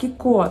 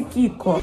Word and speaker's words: KIKO: Это миланский бренд Kiko косметический, который часто нашими блогерами и визажистами произносится как Kiko. На самом деле бренд называется Kiko.